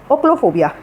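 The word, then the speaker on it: ochlophobia: एक वर्ड और होता है आपका ओक्लोफोबिया, स्पेलिंग होती है आपकी OCHLO, ओक्लो, और फिर इसमें आप लगा दीजिए फोबिया।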